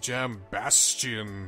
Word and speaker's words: Jambastion: We're gonna go to the Fortress of Shadows Jambastion today.